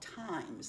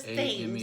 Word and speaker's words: Thames: The makers, it's called Times, I believe. It's called Times. It says Thames, Thames, but I'm called pretty sure Times.